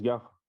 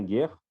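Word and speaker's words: גר: Ça se prononce gare, vous voyez? Et ça veut dire étranger, étrangère, étranger, habité. Donc retenez bien guerre, enfin gare.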